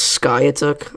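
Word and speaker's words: Skiatook: glue bottle and it was very embarrassing it's pronounced Sky took I keep forgetting that I'm bad at uh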